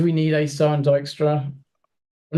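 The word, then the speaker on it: Dijkstra: Well, I mean, Dystra does have the cooler name, and you get extra nerd points if you pronounce Dystra right because it's totally not spelled like that.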